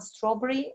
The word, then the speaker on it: strawberry: Strawberry, which was a very big surprise for me. It's only 2 syllables.